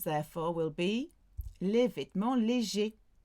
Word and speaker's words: légers: Light clothes, therefore, will be les vêtements légers. With your S, but it's silent.